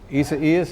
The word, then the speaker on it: Isaias: I got to find out how to pronounce that. Partner, we called this. Isaias is how you say it.